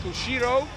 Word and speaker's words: ushiro: In karate, it is pronounced like Ushiro.